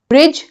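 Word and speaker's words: bridge: ब्रिज में भी dark का प्रोनंसिएशन नहीं है।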